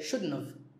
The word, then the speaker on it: shouldn't have: becomes heavy shouldn't have sometimes when we say it fast we even say shouldn't have we leave the tea out shouldn't have all right